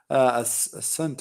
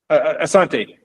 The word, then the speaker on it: Asante: We have a question here from Asant, I guess. Is that your name? Oh, Asante. Yes, that's perfectly pronounced.